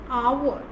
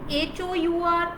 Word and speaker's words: hour: Because H is silent here, so the vowel sound is coming, which that is why I'm using an there.